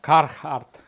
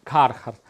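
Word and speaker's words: Carhartt: Кархарт. Кархарт. Ну, це, короче, така тема, друзі. Це Кархарт. Це Кархарт, друзі. Я вже сказав. Бачите, я правильно вимовляю.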